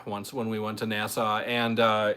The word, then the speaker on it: Nassau: Well, anyway, nobody knows how to pronounce it, but it's NASA. It's NASA.